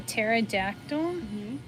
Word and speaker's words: pterodactyl: know uh what a pterodactyl they're extinct that's why you can't hear them that's a good answer yeah okay why don't you go ahead and tell them the answer because the p is silent oh michael you got